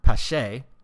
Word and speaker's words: Pache: His name is Cristian Pache. Christian is spelled weird, Cristian.